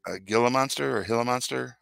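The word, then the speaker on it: Gila monster: if it was like a gill monster or Hilla monster how do you say it hila monster that would have been scary too because they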